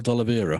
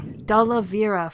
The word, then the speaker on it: D'Oliveira: Basil D'Oliveira. D'Oliveira.